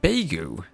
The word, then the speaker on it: Beigu: is pronounced like beu. Okay. So the e Oh, like like like the way.